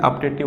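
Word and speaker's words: optative: ठीक है, इसकी जो प्रोनाउंसिएशन होती है ऑप्टेटिव होती है, आ से बोलते हैं ऑप्टेटिव।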